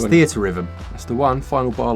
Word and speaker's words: Theatrhythm: It's THEATRHYTHM.